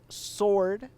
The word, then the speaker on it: SW/RD: It is called Sword, but it is spelled SW/RD.